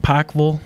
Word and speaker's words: Pikeville: And you said it right, I think. Pikeville. Pikeville, that's right. Yeah, I get a lot of comments on that Right. long I.